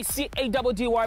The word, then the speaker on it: Caddy: It's mission time with your boy C-A-D-D-Y, pronounced Caddy.